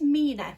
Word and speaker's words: 3INA: This is from the brand, I think it is Mina, but it's spelled 3INA.